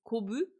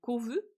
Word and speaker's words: Kovu: H je vous rappelle he que en japonais le B et le V c'est la même lettre. Donc elle elle le prononce Kobu. En français c'est Kovu.